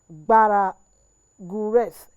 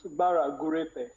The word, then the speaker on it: Bara Gurete: Committee of the NYDP, Bara Gureth. Jared, I hope I got your name. Maybe I'm pronouncing the English version. Can you just please pronounce the name for me? Thank you, madam. It's Bara Gurete.